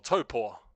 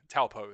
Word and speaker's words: Taupo: Or Topor is how you say it in our, you know, that's the proper true pronunciation. But if you're foreign, Taupo is usually how you say it.